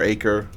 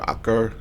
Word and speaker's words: Acre: Damascus or Jerusalem or acre or akar I think is actually how you pronounced well done the differentiates